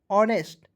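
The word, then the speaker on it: honest: तो अ लिख दीजिए इसका देखिए एच का उच्चारण हॉनेस्ट नहीं पढ़ेंगे ऑर्नेस्ट एच का उच्चारण यहां पे अ के रूप में करना है।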